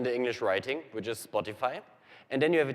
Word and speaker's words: Spotify: about Spotify in Germany they say Spotify that's just they pronounce it in a way that an English speaker would pronounce it now if our text-to-speech engine says Spotify in Germany it says sporttv and that is just because our text-to-speech engine thinks it's a german word and pronunciation of the